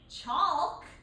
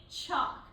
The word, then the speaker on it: chalk: to notice is that sometimes the L is going to be silent, like in the word chalk. We don't say chalk, we say chalk. So that L is a silent letter.